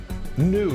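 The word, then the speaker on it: gnu: The G is silent. Nu, G-N-U.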